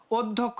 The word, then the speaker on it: অধ্যক্ষ: তারপরে কি ঘটনা দেখো অধ্যক্ষ আমরা একটু আগে নিয়ম পড়ছিলাম ভাইয়া অর পরে যদি একটা জ ফলা থাকে তাহলে কি হয়ে যাবে সেটা ওর মত হয়ে যাবে তার ফার্স্ট কাজ তোমার